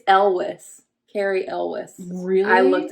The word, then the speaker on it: Elwes: It's Elwes.